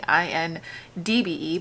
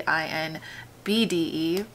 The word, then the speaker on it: INBDE: I've been saying INDBE, but it's actually INBDE.